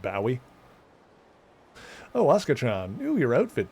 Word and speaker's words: Bowie: Although apparently that should be pronounced Bowie.